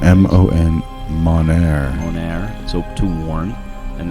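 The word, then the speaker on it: monere: We're not good at pronouncing M-O-N, Monair.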